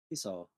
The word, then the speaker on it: Hisao: How did you pronounce it? Hisao.